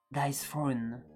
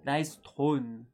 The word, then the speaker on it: Dice Throne: Pour info, le jeu c'est Dice Throne. Dice Throne. Je sais pas comment on le prononce. Tiens, toi et ton anglais là. Comment tu dis Comme Game of Thrones.